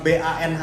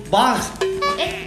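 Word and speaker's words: bánh: Ini kalau BANH ini dibacanya bukan ban, Tapi bang.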